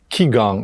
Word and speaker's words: Qigong: On prononce ça Qigong, mais dans le fond, ça s'écrit Qigong, mais on le prononce Qigong.